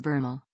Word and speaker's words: VRML: 1990s a technology called VRML short for virtual reality markup language and pronounced bernal was supposed to democratize